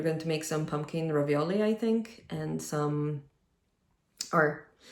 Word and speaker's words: ravioli: to make some pumpkin ravioli I think and some or let me say it properly we're going to make some pumpkin ravioli I am Italian that's how you're supposed to pronounce that word um but yeah we're